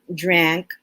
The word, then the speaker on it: drank: order drink drank drunk it's important that we pronounce the words correctly in the simple past and past participles or else our students will simply hear drink drunk right it should be drink drank drunk to differentiate the a in drank and